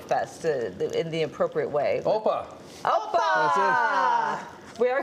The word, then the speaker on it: Opa: Opa.